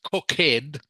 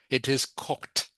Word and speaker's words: cooked: Now in this case, the e d sound is pronounced like a t.